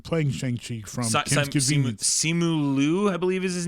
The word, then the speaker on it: Simu Liu: Yeah, it's Korean. That's why I always mess it up, because I want to pronounce it with a Mandarin accent, but it's not.